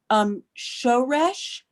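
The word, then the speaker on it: שורש: What I meant to say is on the next to the last syllable. In that case of a 2-syllable word, that would be the first syllable, but that's mil el.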